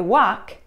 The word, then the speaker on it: walk: Да, в словах talk и walk мы не произносим букву L.